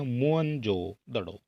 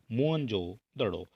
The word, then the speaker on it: मोहनजोदड़ो: माना जाता है और मोहन जोदड़ो शब्द का सही उच्चारण है मोहन जोदड़ो ठीक है यह आप देख सकते हैं जो सही उच्चारण है वोह हो जाता है मोहन जोदड़ो और इसकी खोज की